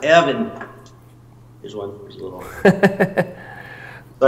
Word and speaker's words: Erwin: That's Erwin, my friend Erwin. He's a collector from Austria. Pronounced Evan.